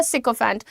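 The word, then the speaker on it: sycophant: एस वाई होता है लेकिन उसका प्रोनाउंसिएशन सिकेंट होता है।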